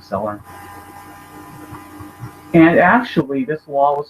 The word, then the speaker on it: Celler: I apologize if I mispronounce Celler. It's spelled C-E-L-L-E-R, so I'm saying Celler.